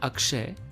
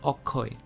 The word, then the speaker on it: Akshay: deepika in awkward so instead of saying akshay he says okoy as you see bengali